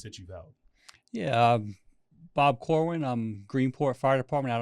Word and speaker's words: Corwin: Corwin.